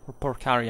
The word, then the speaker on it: Porcari: parari family um in in Rome parari actually is the correct pronunciation uh as it is